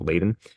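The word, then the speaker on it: Leiden: uh leaden uh yeah I think it's pronounced Laden it's attempted Siege of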